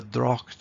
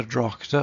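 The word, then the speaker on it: droghte: So it's the drocht of March. In other words, they wouldn't put in an extra syllable there and say the drochte of March. It's the drocht of March, and you can feel the rhythm beginning to flow.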